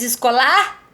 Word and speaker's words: escola: A gente diz escolar, escolar, ou a gente diz escola. Percebe que tem que pronunciar para saber? Tá? Então a gente diz escola. O có é a sílaba mais forte desta palavra.